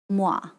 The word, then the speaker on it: moi: So like OI is like wa. Moi.